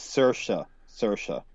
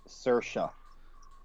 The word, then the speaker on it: Saoirse: It's just pronounced Saoirse. Well, I'll just say the madam. Sursha. Saoirse. Okay. So we got this. I knew there was a sh in there somewhere.